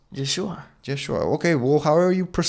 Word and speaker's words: Yeshua: And it's not Jeshua, it's Yeshua.